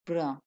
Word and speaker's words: brun: Br. UN is pronounced as a.